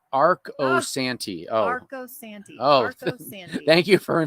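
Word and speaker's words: Arcosanti: long long time so so it's Arc o Santi oh thank you for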